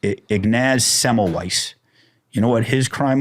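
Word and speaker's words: Ignaz Semmelweis: to this guy and i always say his name wrong but it's ignaz semelweis you know what his crime was he said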